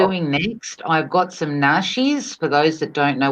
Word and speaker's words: nashi: Western society would probably spell it as in Nashi, as in sh, but it's actually spelled Nasi, which is nashi.